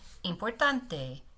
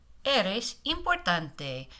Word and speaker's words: importante: Importante. Importante. Make sure your e, your i at the beginning sounds e. A lot of times these cognates since they sound similar, we kind of forget our pronunciation.